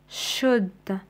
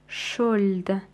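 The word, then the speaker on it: should: تنطق عندنا الكلمه الاولى شده نسمع نسمع نسمع عفوا نكتب ال ولكن لا ننطقها نقول شد لا نقول نقول نقول شولد اذا نشطب على حرف ال الكلمه الثانيه كلايم نقول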